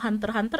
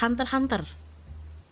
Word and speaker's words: Hunter x Hunter: Apparently, kayak Hunter x Hunter. It's like Hunter, you know. It's spelled Hunter x Hunter, but you don't say the X apparently.